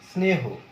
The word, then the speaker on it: স্নেহ: স্নেহ, স্নেহ, এখানে কিন্তু স্নেহ, স্নেহ এই এস দিয়ে উচ্চারণ করছি, স্নেহ এরকম উচ্চারণ হচ্ছে, অর্থাৎ এটা দন্ত সই থাকছে, এটা যুক্ত উচ্চারণ, যার জন্য তোমার হয়তো একটু বুঝতে কিরকম লাগছে।